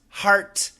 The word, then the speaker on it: heart: Can you help me with the pronunciation of the words hurt, heart, and heard?